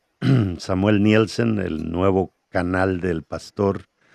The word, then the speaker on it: Nielsen: Y no se le olvide, Samuel, Samuel Nilson se pronuncia, pero se escribe Nielsen. Samuel Nielsen, el nuevo canal del pastor donde hay mucho contenido que nos va a edificar.